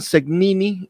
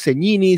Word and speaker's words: Segnini: Aunque he escuchado que te nombran Segnini, la pronunciación es Segnini, Segnini.